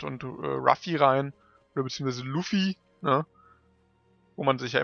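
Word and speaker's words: Luffy: so ganz sicher ist weil Japaner haben kein l ne also es ich denke mal es wird Luffi soll es heißen aber ja ruffy ist halt jetzt englisch ausgesprochen also da steht wortwörtlich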